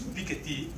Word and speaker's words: Piketty: everybody is equally suffering so the pickety we have pronounced with French accent so it is Piketty filled with the idiocy